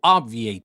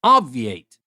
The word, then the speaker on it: obviate: for the next word obviate obviate it's obv i a t but we don't stress a lot on the B so obviate you kind of pronounce it you kind of don't so obviate how do we use